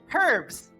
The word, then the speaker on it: herbs: what is it herbs she pronounces the H herbs herbs what kind of